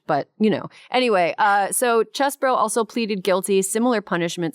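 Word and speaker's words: Chesebro: The other one was Kenneth Chesbro, which everybody keeps wanting to say Cheesebro because he's from Wisconsin, and it looks like it's pronounced Cheesebro, but it's Chesbro.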